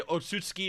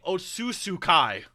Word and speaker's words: Otsutsuki: You know, it's not like it's, you know, you have people say Otsutsuki or Otsutsutsuki. He was saying Otsusukai.